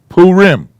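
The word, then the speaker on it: Purim: because we celebrate this yes two syllables this is a p sound this is a ooh sound so that must be poo ah another color pool poo rim see it yeah it's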